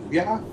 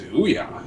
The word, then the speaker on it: Ouya: Well, I just went by the people in the video that were saying it as Ouya, and I just like how it sounds, Booyah, Ouya.